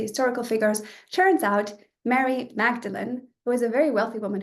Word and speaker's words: Magdalene: And then we have, well, Magdalene is not how you say it, because this is just how I say it because I'm at Oxford and that's what we call the college.